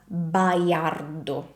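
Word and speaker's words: Baiardo: Now, this last name in Italian is pronounced as Bayardo. Bayardo and it can be very tricky. Why? Now first of all there are two A's and in Italian the A's are pretty different sound than in English. So I can see I can imagine these being pronounced asardo or something like that. In Italian the a is always a. It's an open sound. A very open sound like this.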